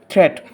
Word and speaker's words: threat: Don't call it dead, watch out for meet and গ্রেট অ্যান্ড threat. They rhyme with sweet and straight and depth.